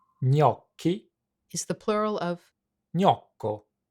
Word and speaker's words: gnocchi: Most English speakers pronounce gnocchi in one of two ways: gnocchi in the UK or gnocchi in the US. Here's how you would pronounce it in Italian. gnocchi, gnocchi.